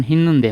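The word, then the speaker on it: 했는데: তারপরে দেখি তিন নাম্বারে হেন্নুন দে এটার উচ্চারণ হিনুন দে হবে হেন্নুন দে মানে হচ্ছে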